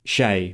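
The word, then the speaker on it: شاي: Arabic has the word shai which comes from this Persian word and because Arabic has no ch sound, they pronounce it as shai with a sh.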